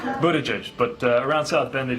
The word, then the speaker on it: Buttigieg: Best way to pronounce your last name? Buttigieg, but around South Bend they just call me Mayor Pete, and that's fine with me.